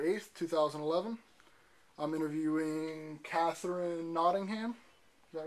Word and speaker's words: Nottingham: today is December 8th 2011 I'm interviewing Catherine notingham is that right is how you say that